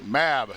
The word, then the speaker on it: MAB: MAB, that's how you pronounce it. I was calling it Mob Deep, you know, for a second. I don't know. I mean, it's an acronym.